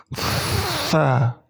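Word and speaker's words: ف: Huruf Fa sangat mudah cara membacanya, yaitu ujung lidah kalian digigit sedikit. Fa.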